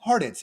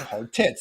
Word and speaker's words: Hartitz: my last name yeah hardids and you might say hard tits depending on if you pronounce it wrong so levar gets to